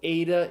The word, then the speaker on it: eta: the word obey okay so ADA is the ACE sound as in the English word obey we think of it